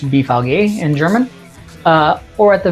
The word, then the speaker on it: BVG: There's usually a kiosk with BVG, pronounced BVG in German, or at the very least machines where you can purchase tickets.